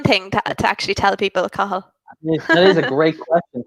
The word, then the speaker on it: Cathal: But the pronunciation for my name is Cathal. Or like sometimes people say it really quickly and they just say Cathal, both or are Cal. fine. Sometimes people say Cal. Never Cal.